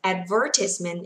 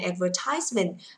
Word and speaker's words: advertisement: Now, so the first word, the first way of pronouncing this word is advertisement. Bởi vì trọng âm nó rơi vào ver nên chỗ này không đọc là ties ạ.